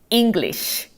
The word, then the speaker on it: English: 그리고 발음은 어떻게 하실 거냐면 이가 이로 발음이 나네? English 하시면 되겠죠.